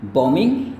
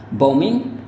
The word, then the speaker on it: bombing: Jadi sekali-sekali tidak boleh ada B-nya. Jadi entah Anda hanya bilang bombing, alright. Jadi cara Anda melafalkannya kayak gini, bombing, atau Anda bisa katakan kayak gini pelafalannya. Alright. Ini kalau gaya Amerika ya. Bombing, alright, once again bombing, kayak gitu ya. Jadi dia masih sama seperti kata dasarnya, tidak ada yang berubah, B-nya tetap mati.